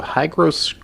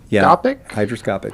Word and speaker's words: hygroscopic: Hygroscopic. Hydroscopic.